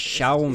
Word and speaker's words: Xiaomi: What Xiaomi have done with this artist Xiaomi. is used a powerful So that's how you laser to pronounce basically it.